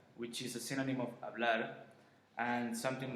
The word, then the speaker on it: hablar: Most of the time it's mute, which means we actually don't pronounce it. So for example, if we have words like hablar or hola, then we just, as you just noticed, I just go straight away and say I don't say like hablar or hola, no. We just go straight and we read the vowel.